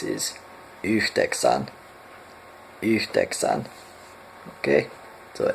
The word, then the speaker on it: yhdeksän: 9 is similar to 8, is yhdeksän.